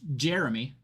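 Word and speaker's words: Gemie: So, his name is spelled G- E M I E and they ask him how to pronounce it. It's Jeremy, but his mom didn't know how to spell.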